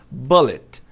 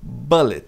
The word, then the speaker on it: bullet: A maioria das pessoas pronuncia como bullet. B significa bala também. Bala de revólver. Bullet. A pronúncia correta é bullet. Veja que eu coloquei um tio aqui em cima do U para tentar explicar esse som. Ele não é nem e nem u.